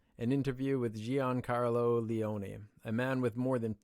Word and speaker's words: Leone: name is John Carlo and last name is Leon so it's actually just pronounced John like John Carlo is that right